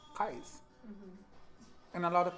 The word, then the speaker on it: Qais: your like move from your comfort zone and pronounce Qais. Mm-hmm. And a lot of people call me Qais or Mm-hmm. Qais.